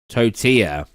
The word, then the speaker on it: tortilla: Granddad um oh yeah I said tortilla WR didn't I how do you say toor let me see it totia that's it um I just read the word the way it's spelled and it's like to